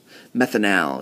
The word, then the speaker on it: methanal: Methanal is how we would pronounce that one.